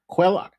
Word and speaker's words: Cuellar: There's another guy, Henry, how do you pronounce it? Cuellar? Cuellar.